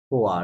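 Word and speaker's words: quoi: আহ, এটার প্রনাউন্সিয়েশন কেমন হবে? ইউ সাইলেন্ট আছে, কিউ এর পরে ইউটা সাইলেন্ট, ওটা নাই ধরেন। রাইট। হ্যাঁ, তাহলে খোয়া। কোয়া, রাইট। ওয়াই ওয়া, তাহলে কোয়া, হ্যাঁ রাইট, কোয়া।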